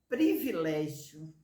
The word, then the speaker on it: privilégio: uma só sílaba certo a palavra privilégio privilégio são quatro emissões de voz são bom então quatro sílabas Qual é a sílaba que eu encontrei é a dificuldade a primeira fila privilégio é com i nunca com é privilegiamos privilegiei privilegiaram e